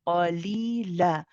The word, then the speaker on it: قليلا: قليلا Yes, now hear yourself the way you are pronouncing the la, the ah sound, the lightness in it.